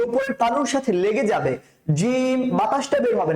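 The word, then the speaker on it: ج: হরফটা উচ্চারণ করার সময় জিম উচ্চারণ করার সময় আপনি বাতাসটা বের করে করা যাবে না জিহ্বার যে মধ্যখানটা আছে আমাদের জিহ্বার যে প্লটটা আছে যে স্লটটা আছে সেই স্লটের মধ্যখান যেটা সেই মধ্যখানটা আমাদের যে উপরের তালু আছে সেই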